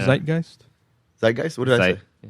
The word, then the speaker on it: zeitgeist: For a moment I thought you meant I thought you said Beetlegeist like zitgeist. Oh no. Beetlegeist. Isn't it zeitgeist?